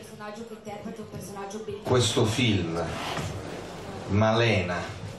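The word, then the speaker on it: Malèna: Questo film, Malena, con l'accento grave sulla E, nell'annuncio non c'è, però io ci tengo molto, è un film, è una storia d'amore che mi piace molto.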